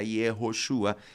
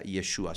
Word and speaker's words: Yeshua: se escribe y yeshua ya para el tiempo de nehemías ya no se decía yehoshua sino que se decía yeshua se usaba la la forma simplificada sí es la forma